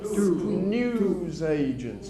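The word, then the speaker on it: newsagents: News agents. News agents. Stress syllable. Three. Yeah. News agents. News agents. News agents. Listen carefully. News agents. News agents. First syllable.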